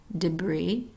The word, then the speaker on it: debris: L in those words silent s debris or Isle not hearing the s in those words silent T ballet buffet